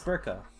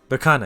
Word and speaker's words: Berkana: And it's Burka. Did I say it right? Berkana, excuse me. It's Berkana.